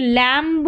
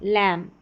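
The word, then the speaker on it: lamb: अब यहां पर थंब नहीं पढ़ेंगे। थंब कॉम कॉम्ब नहीं कॉम म पर ही हम साइलेंट हो जाएंगे। बी का उच्चारण नहीं करेंगे। ये लैंब नहीं है। लैंप लैंप बॉम्ब नहीं बॉम्ब यह है क्लाइंब नहीं क्लाइम क्लाइम। तो सभी में बी साइलेंट है।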